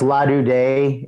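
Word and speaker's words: La Do Da: It's pronounced La Du Day.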